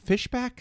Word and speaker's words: Fishback: got this character named robin played by dominique fishbach that's how you say it all three do